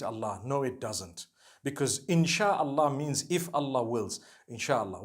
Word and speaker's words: Inshaallah: No one says inshi Allah. They say INSHAALLAH. That's what it is.